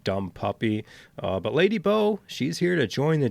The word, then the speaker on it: Bow: Uh but Lady Bow, she's here to join the team and also here to make me mispronounce her name constantly as Lady Boo.